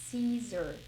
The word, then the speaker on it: Caesar: Apesar de ter um A ali, a gente não fala o A é mudo. So we say Caesar, cesarean, ok?